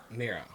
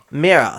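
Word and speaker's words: Mira: Mirror. Mirror. Thought so. Mirror. It was like there's no way it's going to say mirror and it's spelled m i r a.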